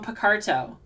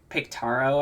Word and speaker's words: Picarto: We're going to be on Picarto, where I will be, remember when I used to pronounce it Pictaro, I think?